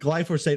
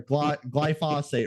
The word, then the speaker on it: glyphosate: They're not things like glyphosate or glyphosate, right? That's what it is. Yeah. That's pronounced.